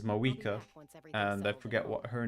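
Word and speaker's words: Mavuika: Mavika is Mawika.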